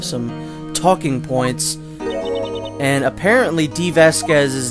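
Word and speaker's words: Dee Vasquez: which is very strange you're supposed to say it like diva spreads because her name is supposed to be a play on the word diva which is extraordinarily obtuse and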